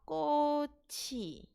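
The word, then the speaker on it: 곶이: Maka bacanya apa ya Robun? Bacanya adalah koci. Kenapa koci? Jadi ketika bacim ciet bertemu dengan awalan vokal, maka dia naik gantiin ing.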